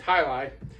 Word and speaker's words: jai alai: So, and for those of you wondering, that's how you pronounce it. Hi. It's not Jai or Ji, you know, it's Hili.